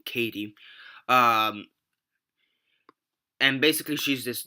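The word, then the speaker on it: Cady: about this girl called caddy or Katie sorry I believe I believe was they pronounced Katie um and basically she's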